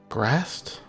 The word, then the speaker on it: Graz'zt: Grast?